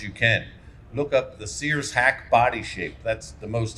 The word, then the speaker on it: Sears-Haack: Look up the Sears hack body shape. That's the most aerodynamic shape known to man. That's Sears, spelled like the Sears store, and hack, spelled H-A-A-C-K.